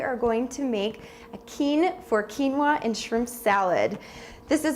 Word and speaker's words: quinoa: It's called quinoa. It's spelled Quinoa, and it sounds like quinoa, and people say it different, but it's quinoa.